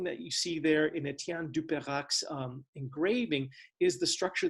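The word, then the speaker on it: Étienne Dupérac: renaissance artist's uh name not only misspelled it but mispronounced as well but this is etienne du perak and uh this is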